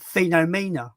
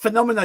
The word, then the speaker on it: Phenomena: But he pronounced it Phenomena, right? So I didn't comment. I actually messaged him. I just was like, I did a voice message. I was like, it's pronounced Phenomena, you twat.